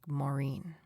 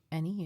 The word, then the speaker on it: Moraine: is a place called Lake Moraine. Moraine. No, but it's it's Mourine, isn't it? No. So this has been a thing on the trip where I say it wrong.